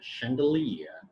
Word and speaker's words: chandelier: word is a chandelier chandelier yet again ch means a show so when i study